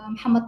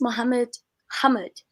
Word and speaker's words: Muhammad: No, the correct pronunciation is Muhammad only, but probably Okay. it's with their accent or something. It sounds like Muhammad. I mean, they speak fast probably, but in Yeah. general, it is Muhammad.